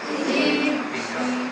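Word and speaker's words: جيم: ইন শি ইয়া কয়টা হরফ জিম এর মধ্য থেকে আমরা কয়টা উচ্চারণ করবো আজকে এক নাকি জি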